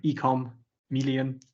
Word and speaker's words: eCommeleon: It's uh the Chameleon for e-commerce. So, ecom million, but uh hopefully there's a link in the comment in the description.